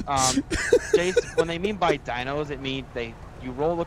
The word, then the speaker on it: dyno: They call it a dino. I don't know why they call it a dino, but that's the term for it.